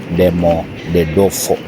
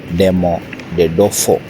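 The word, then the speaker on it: Domodedovo: It is very hard to pronounce it, but I had to pronounce it as Demodedefo. Let me repeat. Demo the dofo.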